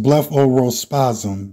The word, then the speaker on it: blepharospasm: damage to the optic nerve corneal abrasions blepharos blepharospasm we can click that and see what that is bsp it cause involuntary blinking it's pronounced Bluff oral spasm blepharosplasm so got some of the conditions and